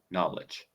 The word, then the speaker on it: knowledge: Also, remember, whenever you see a KN, you don't pronounce the K. It's just knowledge.